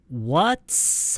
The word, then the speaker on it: what's: 여기서 what's 할 때요. 치읓 발음이 나는 것 같았거든요. 정확히 들리진 않았지만 치읓 발음보다는 그냥 쌍시옷, 그러니까 이 t가 없다고 그냥 생각하는 게 좋아요.